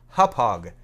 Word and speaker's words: Hauppauge: Hauppauge HD PVR 60 that's as close as I can get to pronouncing this hauppage it is a Native American word Native American Indian to